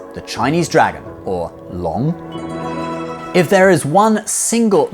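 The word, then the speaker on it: 龙: So, without further ado, number 6, the Chinese dragon, or Long. If there is one single mythical creature that is most associated with Chinese culture, it is the Chinese dragon, which is pronounced Long.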